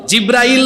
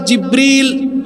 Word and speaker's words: জিব্রিল: তিনি আর কেউ নন, তিনি হচ্ছেন ওহীর ফেরেশতা, নাম হলো জিব্রাইল নয়, এই ফেরেশতার নাম হলো জিব্রিল।